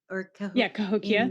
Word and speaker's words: Cahokia: Is it Cahokia? Cahokia. That's right.